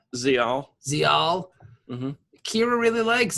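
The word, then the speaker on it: Ziyal: How do you pronounce her name? Zial.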